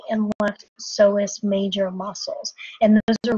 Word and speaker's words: psoas: what are called the psoas major muscles. Psoas is spelled P-S-O-A-S, but notice that the P is silent.